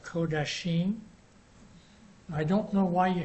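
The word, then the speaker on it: קדשים: And in the book it says this, the next one, the plural, is supposed to be pronounced Kodashim, I don't know why you had that O vowel sound there.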